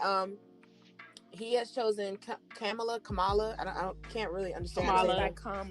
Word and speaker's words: Kamala: we think but um he has chosen pamela kamala i don't can't really understand it's kamala yeah no kamala she goes like okay all